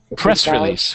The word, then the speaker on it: press release: Press release, one word. Even though it's two word, we say it like it's one.